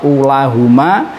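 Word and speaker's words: أولاهم: Namun ini kita tingkat dasar, cukup niteni saja lafadz ulahuma dan lafadz ulahum yang wawunya tetap dibaca panjang. Oke, lanjut. Itu yang lafadz ulahuma. Yang berikutnya lafadz ulahum. Ulahum, u-nya tetap dibaca panjang. Jadi ulahum.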